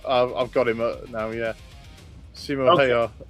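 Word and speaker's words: Simo Häyhä: Simo Hayar. It's how you pronounce it, yeah.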